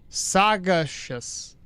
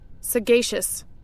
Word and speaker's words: sagacious: for the cape suggest, how do you say that though? Sagacius. Sagashious. Sagashius. I have an idea because I'm horrible at pronouncing things. Sagashius. Sagacious. Sagacious. I was I was closer the first time I second first time I did it. Ah, sagacious. Okay. Hopefully that's right. There we go.